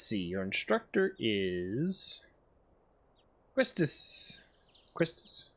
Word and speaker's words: Quistis: Quistis, right?